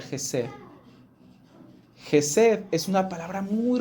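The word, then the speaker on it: חסד: La palabra que nosotros vemos aquí como misericordia es una palabra hebrea que se pronuncia Jesed.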